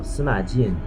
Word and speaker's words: Sima Jin: Now, Sima Jin is the correct Chinese pronunciation for his name, but I usually just call him Jin.